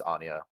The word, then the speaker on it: Anja: 10 here for Anja it's it's Anya like Anya sorry excuse me yeah like pronounced like the uh the Spy Family character yeah I always like